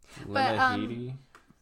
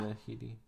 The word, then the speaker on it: Lena Headey: Lena Headey. Yeah. Lena Headey. Lena Headey. Yep. Lena. That's pronunciation.